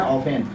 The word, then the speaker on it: often: इसको ऑफ्टेन का इस्तेमाल हम नहीं करते हैं, इसको क्या पढ़ते हैं, ऑफेन। ऑफेन मतलब प्रायः। तो यहाँ यह ध्यान देना है कि टी के बाद ये आया हुआ रहता है तो टी साइलेंट होता है।